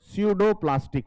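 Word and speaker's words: pseudoplastic: इनको हम बोलते हैं स्यूडोप्लास्टिक फ्लूइड। पी साइलेंट है।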